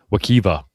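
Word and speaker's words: Wekiwa: Wakiva is the name of the park, even though I think it's spelled Wakiwa, but I can see why it would be called Wakiva. Huh. Yeah, I'm not a Floridian. I'm not a Florida man. I'm almost positive they spell it with a W.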